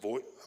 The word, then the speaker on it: Voigt: Our assigned engineer is Terrence Voigt. How do you pronounce the last name? Voigt? Vogt. Okay, Voigt. Vogt. vote, okay. Terry, I know him as Terry.